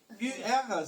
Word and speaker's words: Ur: UR, ça se prononce Ur.